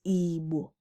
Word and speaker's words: Igbo: So the actual pronunciation and the tone is Igbo, Igbo, lo, lo, and not Igbo.